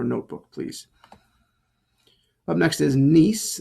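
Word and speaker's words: gneiss: please up next is nice nice is how you say this name the g is silent but does need to be there nice and key features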